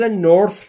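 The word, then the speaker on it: north: نور یعنی شمال دوستان تلفظ نورث رو دقت بفرمایید تی اچش وقتی میخواید تلفظ بکنید زبونتون پشت یا زیر دندون‌های بالا سعی می‌کنید بگید سه سه سمیه نورث امریکا یعنی امریکا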